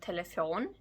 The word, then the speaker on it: telefon: Another example can be en telefon, stress on the last syllable, phone, and telefoner in plural.